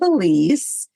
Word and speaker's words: Ilise: and it's Wide Open Spaces with Elise. Elise is spelled different. It's I L I S E.